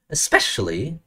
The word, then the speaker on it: especially: Especially em cứ bị ngang. Especially. Trọng âm mà chuẩn.